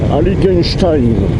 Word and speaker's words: Heiligenstein: La route des vins, Heiligenstein. Il faut bien prononcer à la fin Stein.